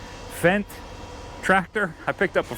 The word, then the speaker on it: Fendt: to say this but it say it's it's pronounced fent fent tractor I picked up a fent tractor a